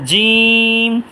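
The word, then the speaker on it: جيم: হচ্ছে খুব খেয়াল করবেন জিম উচ্চারণ হচ্ছে জিহ্বার মাঝখান তালুর মাঝখান যা উচ্চারণ হচ্ছে জিহ্বার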